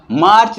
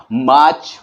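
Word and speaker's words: March: आर सी एच मार्च लेकिन हम प्राय जानते हैं कि आर जो है वो काफी साइलेंट रहता है काफी अक्षर हां वो साइलेंट रहता है तो हम इसे मार्च नहीं बोलके इंग्लिश की प्रोनंसिएशन में इसे हम मार्च बोलेंगे जनवरी फेबरी मार्च और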